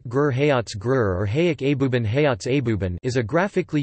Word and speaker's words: այբուբեն: The Armenian word for alphabet is Abuban Abuban Armenian pronunciation, Jabuban, named after the first two letters of the Armenian alphabet A Abe YB and B Ben Ben.